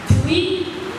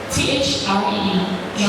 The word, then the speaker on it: three: Remember, TH is always the tongue between your teeth.